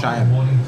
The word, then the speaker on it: Sayan: name again s a y a n it's pronounced shy sh sh and this is Uncle Ry and